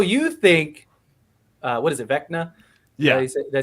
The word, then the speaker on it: Vecna: But I know you think, what is it, Vecna?